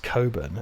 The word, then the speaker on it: Cockburn: like Cockburn ports yeah it's pronounced Coburn actually no it's not